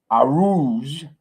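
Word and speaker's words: Arooj: While ex-leader Arouge, that's how you pronounce it, Arouge, or I just say Arut Shah.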